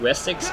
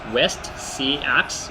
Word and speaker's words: West Seax: Again, I'm just going to call it West Seax because I I believe that's how you pronounce my faction. It's West Seax or Seax, but I think they pronounce it Wessex.